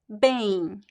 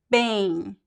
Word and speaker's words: bem: So there's no m sound, right? I do not do bem. Don't do this. The pronunciation is bem, bem.